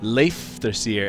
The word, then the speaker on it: Leifthrasir: Leifthrasir. Actually, the F should be like an FV sound.